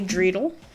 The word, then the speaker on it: dreidel: I could say dreidel, which is like a Jewish toy or something.